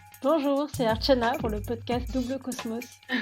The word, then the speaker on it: Archana: Mon prénom, la façon dont il se prononce, donc c'est Archana et ça veut dire offrande.